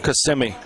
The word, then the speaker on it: Kissimmee: No, Kissimmee. Kissimmee. I thought it was Kiss Me.